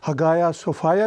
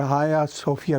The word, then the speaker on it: Hagia Sophia: बाद में म्यूज़ियम बना, उसको हगाया सोफाया भी बोलते हैं और हाया सोफिया भी बोलते हैं। 2 मुख्तलिफ प्रोनाउंसिएशन से उनको पुकारा जाता है।